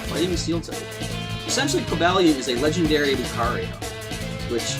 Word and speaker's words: Cobalion: Well, of course, Cobalion, which I believe is the proper pronunciation.